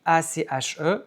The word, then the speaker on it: ache: Ache s'écrit A-C-H-E, mais se prononce ache.